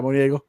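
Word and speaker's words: Munguía: Yeah, Moniego.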